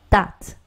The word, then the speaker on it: debt: That. 한번 더. That. B 발음 안 나네요?